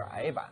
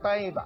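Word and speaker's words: 呆板: 这个呆板过去我们都说是矮板，现在读音都改了，统一成呆板了。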